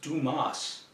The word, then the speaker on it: Dumas: It would be an honor to work with you, Mr. Dumb, and be a part of the Dumb Enterprises. Son, it's pronounced Dumas.